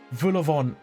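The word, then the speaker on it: vol-au-vent: Vulavant. I've never seen Vulavant written down before, but I know that's how it's pronounced.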